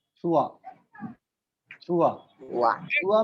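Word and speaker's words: trois: सर 3 का pronunciation एक बार और बताइए ना. छुआ.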